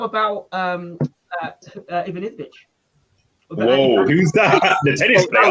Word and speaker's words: Ivanisevic: Ivanovic.